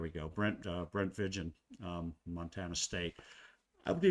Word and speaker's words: Vigen: Brent Brent uh Vigen, that's who it is, right? Brent uh Brent Vigen. Um, I don't think it's pronounced vegan.